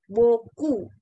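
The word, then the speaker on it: beaucoup: kasih ya dibacanya Mercy buku ya pnya itu sebenarnya sih enggak enggak enggak dibunyikan gitu ya Met sibuk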